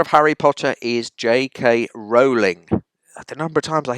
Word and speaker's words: Rowling: She calls herself Rowling. Everyone deserves to have their own name pronounced as they want it pronouncing. So just think of Joanne J.K. Rowling, rolling in money.